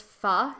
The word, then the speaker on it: pho: Yeah, pho is supposed to be pronounced pho, but like Oh. I see, like I know that, but whenever I pronounce it as pho, no one knows what I'm talking Yeah, about.